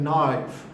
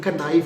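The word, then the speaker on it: knife: ये क्या है, ये चीज़ है नाइफ। This is नाइफ। नाइफ के स्पेलिंग में के आता है, के बोलना नहीं, कनाइफ नहीं कहना, ठीक है, खतरनाक लफ्ज़ है, वो साइलेंट है, के, नाइफ पढ़ना है,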